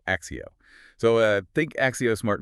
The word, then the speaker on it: ACCEO: It's spelled ACCES, but the way you actually say it is Axio. Axio.